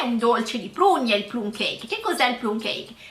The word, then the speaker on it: plum cake: E quinta parola di oggi è plum cake con una pronuncia ancora all'italiana, perché teoricamente in inglese andrebbe pronunciato come plum cake, ma noi lo pronunciamo plum cake.